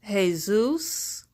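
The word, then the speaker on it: Jesús: waiting and the Latina culture j esus is pronounced hey-zeus so exactly whom are you worshiping you know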